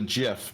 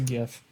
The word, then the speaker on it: GIF: he says Guttenberg well the creator of the of the animated gif calls it a jiff but it's not a J so he doesn't get to choose how he pronounces it it's a gift yeah the gift you're